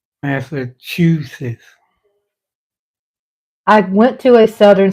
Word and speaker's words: Massachusetts: pronouncing that word wrong Massachusetts is how you pronounce it but I've been saying masusus I hope I hope